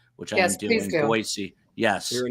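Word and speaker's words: Boise: me an email to not pronounce it like a Z, but a soft S, which I do in Boyisey.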